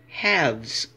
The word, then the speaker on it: halves: when there's one half it's spelled with an F when it's plural there's more than one like two or three or four the F turns into a v e s and we say halves okay here we have